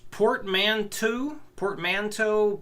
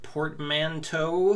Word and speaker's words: portmanteau: I describe with portmanteau. I think it looks like it's spelled like bow.